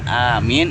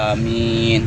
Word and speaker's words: amin: Jadi yang dimaksudkan setelah kita membaca waladhdallin amin itu hanya panjang, mimnya panjang. Maka artinya adalah kabulkanlah ya Allah, amin, gitu ya. Jadi hanya panjang, mimnya panjang. Panjangnya biasa aja amin, yang amin itu terlalu panjang.